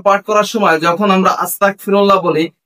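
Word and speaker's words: أستغفر الله: এস্তেগফার পাঠ করার সময় যখন আমরা আস্তাগফিরুল্লাহ বলি এখানে অনেক মানুষ গয়নের জায়গা কাপকে উচ্চারণ করে ফেলায়। যার কারণ হচ্ছে আস্তাগ হচ্ছে হা আল্লাহ আমি আপনার কাছে ক্ষমা প্রার্থনা। আর এখানে যদি গয়নের জায়গা কাপটাকে উচ্চারণ করা হয় তাহলে দেখা যায় হায় আল্লাহ আমি কাফের হতে চাই।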